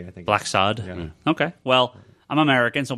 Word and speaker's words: Blacksad: was from France and black sod is the way the black sod okay well I'm American